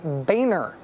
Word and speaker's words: Boehner: the House Minority Leader who says he would like us to pronounce his name Boehner, even though he spells his name like this?